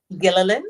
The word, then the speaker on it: Gillian: been pronouncing Gillian right gillin is Gillian a lot of you do pronounce lot say Gan Gill it's gillin you pronounce the L okay gillin what's next